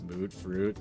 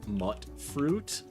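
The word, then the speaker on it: Mutfruit: comments did tell me the correct pronunciation is uh actually mut fruit uh because there's no real vow that makes that ooh sound it's mut fruit and I have to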